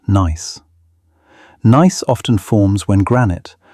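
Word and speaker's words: gneiss: Another fascinating metamorphic rock is nice, pronounced nice.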